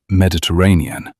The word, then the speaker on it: Mediterranean: correcting her pronunciation of Mediterranean. It has five syllables, Rosie, not three.